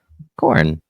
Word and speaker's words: Khorne: Khorne. Yeah, I've heard of him. Spelled with a K. Oh, yeah, okay, yeah. Now we're talking. I thought you were talking about corn, wheat, crops.